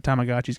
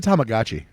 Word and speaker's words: Tamagotchi: he's not gonna be worried about Tamagotchis coming to kill him in the middle No, of the night. no, and like What's a Tamagotchi?